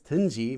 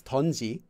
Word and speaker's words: 든지: So you might hear people pronouncing 든지 as 던지.